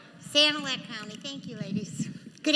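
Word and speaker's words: Sanilac: At this time, I would like to introduce Janet Cargle, a delegate from St. Kier County to lead us in the invocation. I said it wrong. Sanac County.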